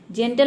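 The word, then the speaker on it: gentle: जेंटल मतलब होता है सजन, जनरल मतलब होता है सामान्य। तो इन तीनों में से कोई भी लेटर अगर आता है तो वहाँ पे जी को हमें क्या प्रोनाउंस करना है, ज प्रोनाउंस करना है, जैसे कि आपने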